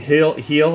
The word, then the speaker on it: Gil: So, uh Gil gets caught I mean heel I should say his name right.